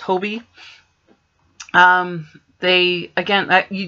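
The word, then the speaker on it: Hobbii: really like hobie now that i know it's pronounced hobie um they again that you just saw my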